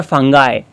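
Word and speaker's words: fungi: देखो फंगी और फंगाय two types के प्रोनाउंसिएशन है बेटा इसके। कोई इसको फंगाई बोलेगा, कोई इसको फंगी बोलेगा। But both are same. अगर आप इसको ब्रिटिश एक्सेंट में बोले तो यह फंगी बन गया।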